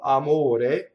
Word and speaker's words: amore: So this R would be surrounded by vowels and it flips like this.